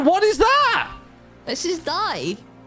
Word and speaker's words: Dai: is that this is die this is die as in he died die no no no like die as in you know the Welsh name like die I I don't know